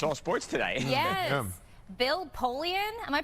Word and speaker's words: Bill Polian: Bill Polian, am I pronouncing that right?